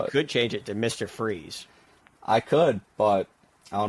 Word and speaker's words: Fries: I would think, initially people probably thought, and I thought this too, it was Sean Fries, but no. Yeah. It's Freeze. I wish that my last name were pronounced Fries. I think that'd be way cooler, and I'm a big French fry fan too.